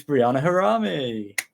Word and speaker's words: Breanna Harami: it it really is just pronounced how it's spelled.